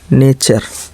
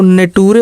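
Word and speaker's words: nature: नहीं, नेट्यूरे नहीं, नेचर, एन ए टी यू आर ई, नेचर। नेचर का मतलब प्रकृति। देखिए एफ यू टी यू आर ई, फ्यूचर। एफ यू का फ्यू हो गया, टी यू आर ई का चर, टूरे नहीं, चर पढ़ेंगे। फ्यूचर का मतलब भविष्य। फुटूरे, इसको नेटूरे और फिटूरे मत पढ़ने लगना।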